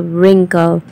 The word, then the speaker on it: wrinkle: r i so the wrinkle w is silent third topic is proper